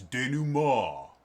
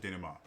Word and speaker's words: denouement: now it's spelt denouement it's not how you pronounce it it's de nou mal and i think there's an answer mond um but i've always pronounced it dynamo uh and it's actually this is the description